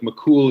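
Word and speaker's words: McCumhail: irish history and gaelic mccool is spelled m-c-c-u-m-h-a-i-l it was like a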